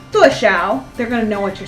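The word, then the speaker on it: 多: So the dwuh is higher pitched than the shao.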